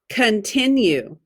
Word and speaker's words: continue: you continue okay now the first syllable is tricky pun k uh but it's not a short u it's a short o con put your dot there